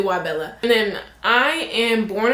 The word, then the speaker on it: Wabella: My name is and then my channel name is Wabella. That's how you say it. Not Wabella. It's actually really Wabella.